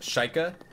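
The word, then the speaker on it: Sheikah: I'm talking about right the one that's pronounced sheikha the one that angela like pronounced is wrong and it's really weird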